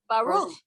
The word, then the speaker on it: Baruch: Baruch.